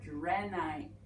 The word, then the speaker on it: drenai: Purple gnosat, or drenai.